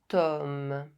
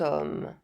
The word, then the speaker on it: homme: C'est un grand homme. C'est un grand homme. As you can see, the word homme starts with the consonant H, but as H is silent, the word starts with the vowel sound O.